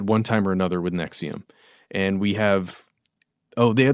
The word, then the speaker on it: NXIVM: the article is titled secrets of Nexium again spelled NX IV M and they go into